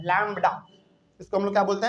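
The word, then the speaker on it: lambda: एक Greek word है उसको हम लोग बोलते हैं लडा याद रखिएगा इसका स्पेलिंग थोड़ा सा हम लिख देते हैं यहां पे सिंपल है एल ए एम बीडी ए लैडा ठीक है कहने का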